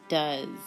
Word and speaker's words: does: And our sight words for this week, one of them is does. So you can practice that. Try writing it 3 times. Spell it while you write it.